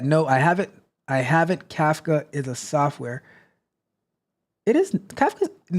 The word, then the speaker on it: Kafka: Mitch says that no I haven't I haven't Kafka is a software it is CFA no kafa is spelled k a FKA a CF and it's